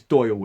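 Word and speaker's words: Dáil: not irish so when i read something which says dale i say it as dale and i knew i was mispronouncing it but more likely than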